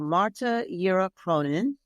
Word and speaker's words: Marta Yera Cronin: Marta Yera Cronin. Did I pronounce that correctly, Dr.